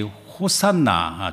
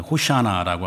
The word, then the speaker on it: 호산나: 그래서 우리가 구약의 이 호산나, 정확히 말하면 이제 호샤나라고 이렇게 발음하는데 이게 시편 118편이 있습니다.